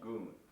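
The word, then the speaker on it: gun: Okay, so we have the bass tone, right hand, the syllable is called goon.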